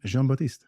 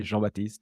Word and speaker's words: Jean Baptiste: thank you very much for uh pronouncing correctly my name I think you are the only exception outside of friends who know how to say joh batist but if it's easier